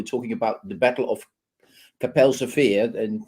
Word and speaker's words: Kapelsche Veer: about the Battle of Kapelsche Veer, and that's the correct pronunciation in Dutch, Kapelsche Veer.